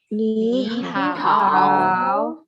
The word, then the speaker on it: 你好: 你好。 Iya. Nada 3 ketemu nada 3 bacanya jadi nada berapa? Dua.